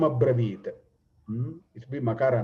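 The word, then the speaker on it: अब्रवीत्: Sanyugeshu aparajitam sarasreshtam dhanuhu sreshte vikarshan idam abravit, idam ibravit. No, it must be a abravit, idam abravit.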